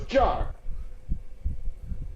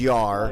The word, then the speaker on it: Jar: It's spelled with a J. So it's jar. It is Yar.